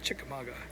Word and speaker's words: Chickamauga: So that's a nice little paycheck to take home to to Georgia, Chickamauga, Georgia. I think it's how you say it. Is that how you say it? Chickamauga.